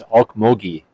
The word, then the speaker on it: Okmulgee: I think it's Okmulgee.